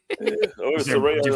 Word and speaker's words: Saraya: Yeah, I think it was always pronounced Saray. They just spelled it that way to get people to pronounce it correctly.